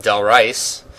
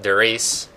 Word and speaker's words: Der Riese: So, well, today we're playing on the map Del Riese, as the 8-year-olds like to call it, and as we like to call it, Der Riese. Pretty sure that's the way we pronounce it. I mean, we could be wrong, but I don't think so. Yeah, no, we're right.